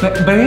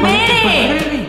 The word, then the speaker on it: ver: Gracias por B ver es que dicen bere Por qué dices bere es Ver ver Gracias por ver yo